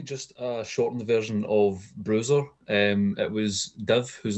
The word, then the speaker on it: BRSR: Am I not supposed to say BRSR? No, it would be Bruiser, but we get a